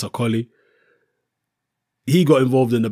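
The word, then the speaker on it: Okolie: the banter lawence AI aoli sorry the proper Nigerian pronunciation which I normally get right Lawrence ooli he got involved in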